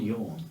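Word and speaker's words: Jån: no a gnome called a name called yawn okay but spelled like jan sure yawn it's j and then the a with a little circle yeah yeah um okay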